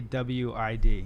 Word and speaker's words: Dawid: Yeah, most people just go with Dawid or Dawid until I tell them it's pronounced still the same, but it's spelled with a W.